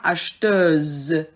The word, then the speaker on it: acheteuse: Vous avez par exemple des syllabes qui se terminent avec heure, teur, comme acheteur, ça devient acheteuse. Donc, le R se transforme en SE, ze, le son ze.